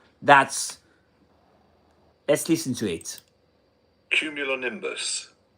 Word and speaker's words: cumulonimbus: We do have the pronunciation. Let's listen to it. Cumulonimbus. Cumulonimbus.